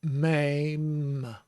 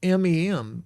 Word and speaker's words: Mem: And of course, the spelling in English, I've always seen it spelled M-E-M, but that makes me say mem.